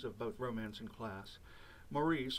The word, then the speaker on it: Maurice: Maurice, or to use the official British pronunciation, Morris, was actually written in